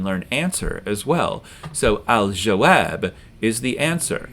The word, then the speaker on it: al-jawab: So al-jawab is the answer. And we do hear the lam in alif lam because jim is pronounced near the back of your mouth.